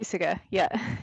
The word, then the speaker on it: Puysegur: Hopefully I'm pronouncing that right. Is it Puysegar? Puysegar, yeah. I don't know heaps about